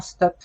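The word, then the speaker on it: StOpE: a signé l'acte d'engagement STOP. Alors, on ne prononce pas, Arthur, le E à la fin.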